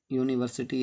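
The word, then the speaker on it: university: जैसे ए कैट है, अ डॉग है, ठीक, ए यूनिवर्सिटी है, यूनिवर्सिटी, क्योंकि यूनिवर्सिटी चूँकि हमारा स्वर से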